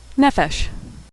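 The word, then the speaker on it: נפש: Pay without the dot, which makes the f sound, is sometimes called fe. It doesn't usually appear at the beginning of a word, but it appears in the middle of the word nephesh, which means soul.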